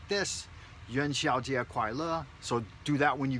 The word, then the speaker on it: 元宵节快乐: Don't forget, make sure you say it like this, Yuan Xiaojie Kuai Le.